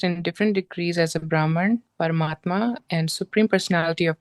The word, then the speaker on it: Brahman: So this word, we should read it as Brahman.